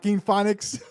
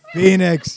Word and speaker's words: Phoenix: and change my name but I'll spell it like pho e two E's and and e OE and ICS phonics Joaquin Phoenix Phoenix how many times I gotta tell you it's Phoenix yeah no one likes